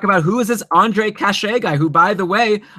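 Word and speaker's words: Kaše: Okay, and then we got to talk about who is this Andre Cachet guy, who, by the way, I'm getting compliments in the chat room for having pronounced his name right.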